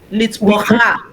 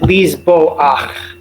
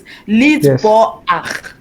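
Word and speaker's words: לזבוח: So here's one of our pronunciation exceptions. The chet at the end of a word with a patach under it. Litzbocha. Just the opposite. Lizboach. Yes. Litzboach.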